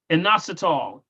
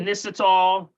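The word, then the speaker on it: inositol: prevents damage from x-rays also what's name again anasol i n o s t o l some call it inol anasol yep you may hear it pronounced in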